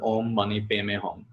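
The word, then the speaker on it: om mani padme hum: have heard of it om mani padme hom which the tibetan pronounces om money pay me hom which means i pay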